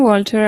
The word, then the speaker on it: Walter: And Walter is just like the one in, what's the name of this show again? Breaking Bad, I think.